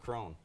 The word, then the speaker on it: Cron: It's C-R-O-N, but they pronounce it Crone.